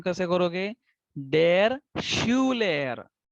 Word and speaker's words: Schüler: डेर Schuler. तो थोड़ा सा ट्विस्ट किया मैंने, यू को ट्विस्ट किया.